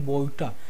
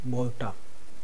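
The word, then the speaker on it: ବୋଇତ: here I have written boita, because it is pronounced in Oriya like that, boita.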